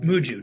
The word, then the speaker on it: Muju: First of all one in Muju. Muju not Mushu.